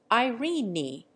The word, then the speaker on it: Irene: to rhyme with leave irene is given two syllables making it Irene e Ralph is pronounced Rafe